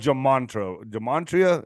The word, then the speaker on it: gematria: You know, it's called gematria, right?